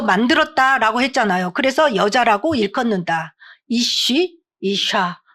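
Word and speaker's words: אִישׁ: 남자는 히브리어로 아쉬요. 아니 이슈. 여자는 이샤. 그래서이 쉬에서 파생돼서 나왔기 때문에이 쉬려야 뗄 수가 없어요. 단어만 봐도이 여자를 남자에게서 만들었다라고 했잖아요. 그래서 여자라고 읽컫는다. 이쉬 이샤 뗄 수가 없는 불가분의 관계가 어 있죠.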